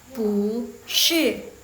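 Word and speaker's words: 不是: Jadi kalau misalnya belakangnya pu itu dia nada keempat, jadi yang pu itu dia berubah jadi nada kedua. Jadi bacanya pu nada kedua ya guys. Pu shi, yang belakangnya jangan diubah, yang punya ini yang diubah, oke?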